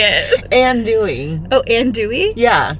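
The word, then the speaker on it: andouille: it and Dey oh and Dey yeah you don't pronounce LS no no no you don't all of the vowels and then the two L's and the e at the end is ooie ooie wow and Dey an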